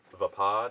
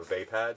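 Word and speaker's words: Vaapad: practicer you know of the 7th form of lightsaber combat is Mace Windu, but he has made it Vapad or Vapad, depending on your pronunciation.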